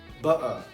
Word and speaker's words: butter: Porque, ao contrário do inglês britânico, eles pronunciam o T com som de R. Eles falam butter.